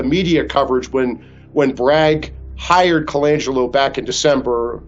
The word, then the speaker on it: Colangelo: His name is Matt Colangelo, is I think how I pronounce his last name. It's Colangelo, Colangelo.